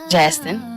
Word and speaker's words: Jastin: Because I'm like, how do you pronounce it? Tina? Jastin.